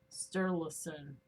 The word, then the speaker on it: Sturluson: I always say his fucking last name wrong because I want to turn it into something else. So hold on here. Sturluson.